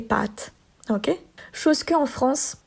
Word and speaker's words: pâtes: Ils disent pâte. OK, le A est court. Alors que les pâtes qu'on mange, ils allongent un petit peu le A. Les pâtes.